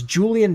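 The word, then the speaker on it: Julie'n: a crazy name it's it's Julian Davenport but it's spelled like Julie like a girl's name apostrophe n so it's Julie oh yeah I see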